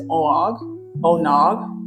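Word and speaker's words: Oonagh: She is Onog. It's like eggnog, but with an O, but it's not spelled like that.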